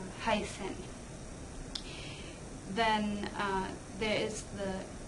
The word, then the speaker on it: heißen: - niversität- Let's look at some consonants, so the ess-tset, it looks a little bit like a -B-, but it's not a -B- , it's actually just like an -S-. -Heißen- Then, there is the